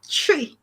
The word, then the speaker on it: Twi: Twi. Do you know it's what? Like 1, 2, 3. Like actually, yeah, that's the pronunciation.